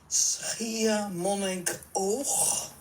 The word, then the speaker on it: Schiermonnikoog: Schiermonnikoog. No, and you felt that I got it right. Schiermonnikoog. Schiermonnikoog.